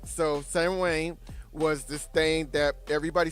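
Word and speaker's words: Samhain: It's It's pronounced like Sam Wayne. Okay. Oh, never said that right. Yeah. Yeah. Yeah. Yeah. Sam Sam Wayne. Yeah. Okay. All right. So, Sam Wayne was this thing that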